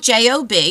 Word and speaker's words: Job: a story of The Book of Job um it's spelled j o b some people think it's j but it's pronounced